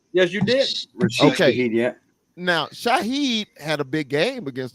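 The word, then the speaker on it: Shaheed: wide receivers man of course alive and ased Shahed did I pronounce his last name correct yes you didah yeah now Shahid had a big game against the Carolina man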